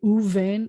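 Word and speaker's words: וּבֵין: is this u, and it will never be vu here. It's going to be uvein, and once we take a long vowel, I have to take that dagesh out.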